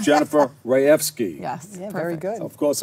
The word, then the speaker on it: Rajewski: program development and I'm not gonna say your name wrong I'm gonna say it right Jennifer Rea F ski yeah very good of course if you look